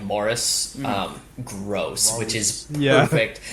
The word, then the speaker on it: Maurice: his name is horus his name is maurice but they pronounce like morris um gross which is